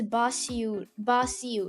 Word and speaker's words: Basiu: pronounce her name as Basiu, right? It's like bay shoe, like you lost your shoe in a bay shoe.